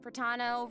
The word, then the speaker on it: Pratano: Hey everyone, I'm Pratano, rhymes with Capitano, Oh!